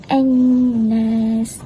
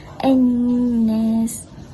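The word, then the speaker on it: النَّاس: An-Nas. Nampak tak? Nun tu kita baca dengung 2 harakat. Suara daripada hidung. An-Nas.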